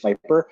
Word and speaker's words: Vyper: It might be VYPER, just Viper.